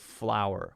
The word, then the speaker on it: flour: says flour instead of flour. We actually pronounce flour like the flour you would use to make dough for bread, as exactly the same as F-L-O-W-E-R, flour, right? Flour, same thing.